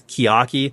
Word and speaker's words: Chiaki: I looked it up and it says the official pronunciation is Chiaki.